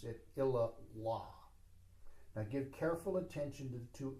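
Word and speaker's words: illā Allāh: Incidentally, when you have two A's, one after the other, you do not pronounce the second A. You do not say Illa Allah.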